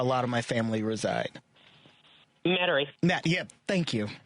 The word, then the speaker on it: Metairie: Metairie. I never pronounce it correctly. Metairie is where a lot of my family reside. Metairie.